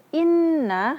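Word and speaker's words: إِنَّ: Kita harus mengucapkannya inna. Jangan innal abrar. Langsung innal abrar. Hanya sekedar gunnahnya. Ini tidak boleh.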